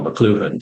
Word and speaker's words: McLuhan: If we're looking at it through the lens of Marshall McLuhan, or McLuhan to say it properly, then it really means that we are being changed in a very fundamental and profound way.